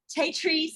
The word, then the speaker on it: Tatrice: I was having it rhyme with my middle name, which is Patrice. So it's Tatrice. Very good. And you're in New Orleans. Lucky you. And Tatrice has written a book,